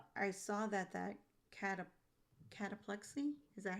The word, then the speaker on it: cataplexy: I saw that that cataplexi, is that how you pronounce it?